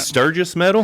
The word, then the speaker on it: Sturgis Medal: Sturgis Medal? Am I saying it right? That's correct.